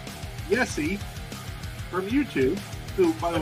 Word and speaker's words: Yessi: this tiny picture, but Yessi on here, Y-E-S-S-I, I have a student who has a name very similar, but it's pronounced like Mike Tyson would pronounce Yessi. So Yessi? Yethi.